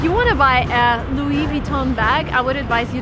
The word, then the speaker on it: Louis Vuitton: So, everything needs to be pronounced in a French way if you want to sound proper in English as well. So, Louis Vuitton.